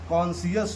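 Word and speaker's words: conscious: गया, कंसाइंस हो गया, अगर कभी भी एस के बाद सी आता है तो हम लोग सी को नहीं पढ़ते हैं, सी हमारा क्या हो जाता है, साइलेंट हो जाता है।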